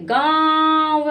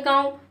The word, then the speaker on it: गाँव: बस आपको नाक के बल बोलना है, जिस अक्षर में लगी हो उस अक्षर में हम नाक के बल बोलेंगे, मुंह से उच्चारण करेंगे, नाक के बल बोलेंगे। बस चंद्र बिंदु का प्रयोग हम आसानी से बोल लेंगे। अब ये तो जैसे गाँव, हमने बोल दिया गाँव, मुंह से बोला और